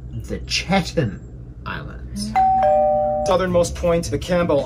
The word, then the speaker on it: Chatham: easternmost chatham islands and the sub-antarctic wall the chatham islands island it's pronounced the chetan island southernmost point the campbell islands the country